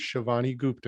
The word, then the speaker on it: Shivani Gupta: It's Shivani Gupta. Is that correct? Yes. Okay. So this way, when I pronounce it, I want to make sure everything's